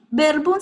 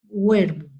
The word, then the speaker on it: Werkbund: Bueno, verbum se escribe workbum. W-E-R-K-B-U-N-D. ¿Sí? Verbum.